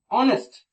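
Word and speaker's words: honest: और एक चीज और, ऑनेस्ट, ये जो वर्ड ऑनेस्ट है, इससे पहले हमको एन का इस्तेमाल करना होता है, क्योंकि ये तो ऑनेस्ट में एच साइलेंट होता है और ये वॉवेल से शुरू होता है। ठीक है, ऑनेस्ट प्रोनाउंसिएशन करते हैं तो अ का साउंड आता है, इसकी वजह से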